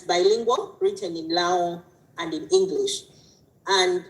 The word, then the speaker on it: Lango: So I come from a tribe that is called Lao, and written Lango, and it's in the northern part of Uganda, but we pronounce it Lao.